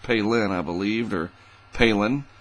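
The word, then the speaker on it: Phailin: and it's uh pronounced palin i believed or palin it's spelled p-h-a-i-l-i-n and you think it would be phelan but it's the phi is pronounced p-a-y so palin or palin heading into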